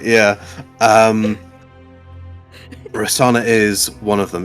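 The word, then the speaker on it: Rosohna: Um, Rasana is one of them. It's it's you think you think there's a H there, but it's it's I think the H is silent. Um, so Rasana, I believe, is the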